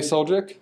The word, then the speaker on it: Suljic: please help me out I got soul jerk yes correct : print Wow okay